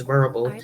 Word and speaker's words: Vurbl: nationwide audio station, which is Verbal, which is spelled VURBL.